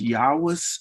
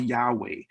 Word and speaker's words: Yahweh: Some have maybe heard it called Yahweh. But remember, Hebrew does not have vowels.